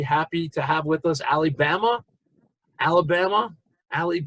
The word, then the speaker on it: Ali Bama: to have with us Ali Bama, Alabama. Ali, it's hard to pronounce, so I want to call you Ali, but I got that. Is Say it Ali? it. Say Ali, then say Bama.